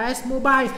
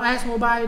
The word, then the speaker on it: AS Mobile: đọc ông này là ASMobile hay ASMUBI hay AS Mobile, thì tất cả đều chính xác. Và AS Mobile đã xác nhận với tôi là đọc kiểu gì cũng được anh ạ.